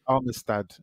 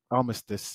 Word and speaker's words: Armistice: Alliance uh like a ceasefire and that's where armistad uh I almost did so how do you say it again I'll miss this Armistice yeah armisticex is what's sort of created from